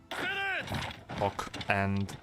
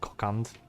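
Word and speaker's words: Kokand: Cock and something. I don't know what, but it's cock and. No, it's pronounced cockand, but cock and sounds better.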